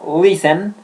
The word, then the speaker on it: listen: I listen Importantísimo, aquí no podemos pronunciar la T, se pronuncia listen, la letra T no se pronuncia, yo no puedo decir listen.